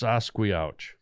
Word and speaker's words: Sasquatch: It's pronounced Sasquatch.